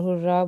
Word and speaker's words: hurrah: And the first sentence is he said, "Hooray or hurrah." Both are correct pronunciations.